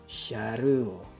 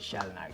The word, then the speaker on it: Shalnark: Okay, so para sa ating pangatlo, eto na si Sharu. Sorry mga Japarms, mas sanay talaga ako sa Japanese pronunciation Si Shalnark, Shalnark.